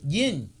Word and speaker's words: yin: Well, it don't have a G on it. You always pronounce it yin.